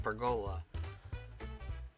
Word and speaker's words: pergola: pera up and then people pronounce it perola people in the United States most time pronounce it perola okay now you had your weird lesson on how to pronounce this thing and I only know that cuz I looked it up because I was saying pergola and thought maybe I was wrong cu the Australians pronounce it pergola and that's what I